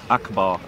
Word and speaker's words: Akbar: Akbar, and it's pronounced akbar.